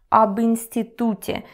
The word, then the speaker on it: об институте: With E, it's especially interesting when it comes to pronunciation because it kind of turns to U. It's not об институте. No. Again, because of its E, it's just easier to articulate.